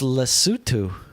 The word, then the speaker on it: Lesotho: It's pronounced Lesotho.